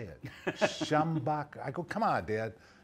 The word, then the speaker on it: Schembechler: that guy's name how do you say it schambach I go come on dad weird allama weird Schembechler I don't want you go there so I